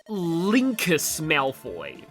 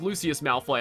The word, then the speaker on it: Lucius Malfoy: And uh when I did that uh I I I called Lucius Malfoy Linkus Malfoy. I don't know why. I don't know why I thought there was a K in there, but that's how I